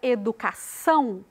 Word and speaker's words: educação: pronunciado com mais ênfase na palavra educação a gente coloca mais ênfase lá na última sílaba são educação e todas